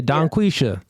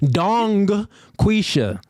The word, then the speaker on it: Donquisha: Yeah, Donquisha. I just saying I ain't pronounced the G at the end. You want me to pronounce that? Donquisha. Yes. But if you say it fast, the G disappears.